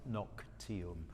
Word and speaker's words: noctium: somnia sleep at noctium because it's the genitive we pronounce it noc teal of the night of